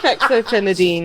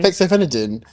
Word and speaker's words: Fexofenadine: I say it wrong I think you put an extra syllable in F fenine oh God wait phenex no Fexofenadine Fexofenadine I was that how